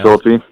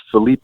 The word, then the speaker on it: Philippi: I say Philippi. Philippi? Philippi. Everyone says Felipe, but it's Philippi.